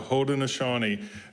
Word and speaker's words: Haudenosaunee: We are looking in this beautiful month of Native American heritage We are focusing this morning on the Haudenosaunee Federation, which is considered one of the oldest forms of democracy in humanity.